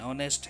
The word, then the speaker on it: honest: european a uniformed similarly the words hours and honest have a vowel sound at the beginning so we say an hour an honest man with aberrations the same